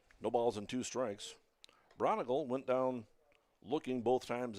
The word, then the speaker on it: Braungardt: Braungardt is spelled b r a u n a g e l. Pronounces it Braungardt.